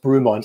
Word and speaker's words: Bremont: It's pronounced Bremont.